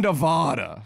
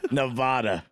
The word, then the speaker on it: Nevada: are you aware that there is a divide in the pronunciation it's Nevada Nevada is people from Nevada say it Nevada is how Aristocrats and you say it I believe bougie [